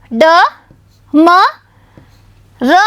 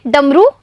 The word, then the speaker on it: डमरू: तो बच्चों इन दोनों का उच्चारण देखिए, डमरू या डमरू। तो बच्चों बड़े ऊ की मात्रा वाला शब्द सही है, यानी ये है ड म र में बड़े ऊ की मात्रा रू डमरू।